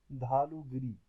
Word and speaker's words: Dhaulagiri: अगर हम बात करें तो इसकी स्पेलिंग मैं आपको बता देता हूँ। TDHAULAGIRI, धालूगिरी।